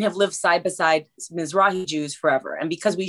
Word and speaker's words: Mizrahi: So I was wondering if you could define Mizrahi Jews and as well as Bekarin Jews. I believe I pronounced it right.